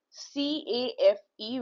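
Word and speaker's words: café: So example is written over here C A F E with the axo au the so the pronunciation will come out as cafe cafe. Okay. So c a is ca and f e with the x au is f cafe.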